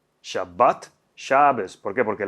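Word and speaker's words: שבת: palabras que seguramente conozcan shabat en asen en ashkenazi es shabes shabat shabes por qué Porque la tav esa sin dages se pronuncia como una s entonces veet pasa a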